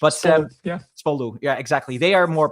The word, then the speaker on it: Spolu: Spo I'm probably pronouncing it wrong, but Spolu.